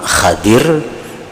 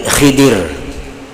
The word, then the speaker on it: Khidir: dengan gelar Khaidir jadi membacanya ada dua cara 6 pertama hadir nagih hadir atau Nabi Khidir kadazan Nabi Khidir Nah